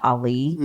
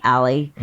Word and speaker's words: Ali: after him but I I changed the pronunciation only CU I thought Ali sounded like a boy so my friends friends and professionally people call me Ally but yeah so but